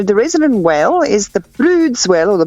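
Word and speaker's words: Bryde's: resident whale is the Broods whale or the brides whale spelled Brides but it's they said they pronounce it Broods well and was a done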